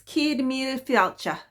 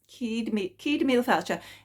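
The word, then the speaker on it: Céad Míle Fáilte: The pronunciation might be a bit different, but it's, I think it's Cíd Míle Fáilte. Cíd Míle Fáilte.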